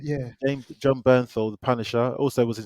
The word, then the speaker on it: Bernthal: this really interesting uh what's his name john birth but let me say his name right burn his name right yeah john bernthal the punisher also was in sicario gangster field